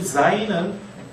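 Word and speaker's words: ז: 자, 여러분 교재 16쪽에 보면 제가 유성은 지읒이라고 발음을 이야기를 했는데 즈 하면 이게 이 zain은 목이 떨리면서 숨이 새어 나오는 거죠.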